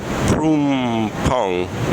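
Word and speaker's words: Phrom Phong: like 17, because for me to go to Prumpong, there we go, I said it right, Prumpong,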